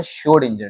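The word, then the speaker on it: Schrödinger: तो बेटा ये क्वांटम मैकेनिकल मॉडल जो है वो दिया था शोड इंजर ने। किसने दिया था? श्योर डेंजर ने। ठीक है? इसमें कुछ अल्फाबेट साइलेंट है।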